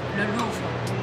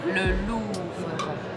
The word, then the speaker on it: le Louvre: 那下一个词是卢浮宫，卢浮宫也是一个地标型建筑，所以也会有一个 le 叫做 le Louvre， le Louvre 怎么听起来有点像狼啊？ le Louvre， le Louvre，再来一遍， le Louvre， le Louvre。但是那个狼的发音是 le loup， le loup，是卢浮宫。这里面其实有一个法语里面的著名的小舌音，就是发的最优雅的方式，就是不要把它发的特别明显，要不然就跟吐痰一样。